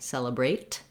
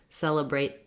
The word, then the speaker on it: celebrate: You'll notice that when a word ends with T in American English, we don't always use a burst of air for our T. I don't necessarily say celebrate. I can, and it's not incorrect. But especially when we're following this word with another word, if I'm saying celebrate Thanksgiving, I'm going to stop the air for that T, celebrate Thanksgiving, and I'll